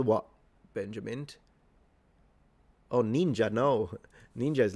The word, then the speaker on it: ninja: because your pronunciation yeah that's how it's pronounced ninja and it's a falling pitch ninja.